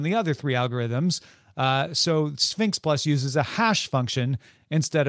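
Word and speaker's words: SPHINCS+: of space and then sphinx plus but it's spelled s p h i n c s plus is larger and slower than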